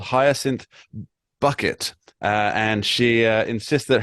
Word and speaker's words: Bucket: Well, my guess would be that there is a UK television character on a show called Hyacinth Bucket. And she insists that her name is pronounced Bouquet.